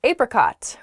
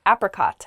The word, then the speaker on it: apricot: that was oddly specific the next word is apricot or you might hear apricot as well it's a fruit so you might